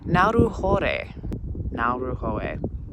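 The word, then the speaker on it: Ngauruhoe: gave me an opportunity to look up the pronunciation and it's Mount naru now R ho I'm working on it y so beautiful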